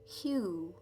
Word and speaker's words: hue: could chant the word hue elongated and pronounced like a hue that describes the tint of a color i sang you shaking